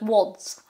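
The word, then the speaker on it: Łódź: see the the words now you say Lords because you instinctively see the letter L yep but it's not a letter look it has a line through it what does that mean so that is more of a so it's wads sort of uh so you want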